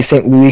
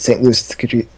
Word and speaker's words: St. Louis: I'm going to pronounce it the way that is, I'm told, the French. That would be St. Louis Cathedral. But come on, let's be American and pronounce it St. Louis Cathedral. Like a proper American.